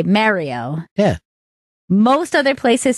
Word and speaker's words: Mario: like two syllables but they say it like Mar not Merritt like not like Merry Christmas I say it the